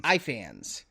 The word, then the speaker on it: Ifans: Ifans.